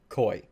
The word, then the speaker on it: koi: just looked it up it is in fact koi so the Ender fish